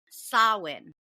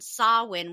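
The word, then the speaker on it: Samhain: person everyone um with that being said it's sawin so the Gaelic word pronunciation sawin was the name of the Celtic Festival at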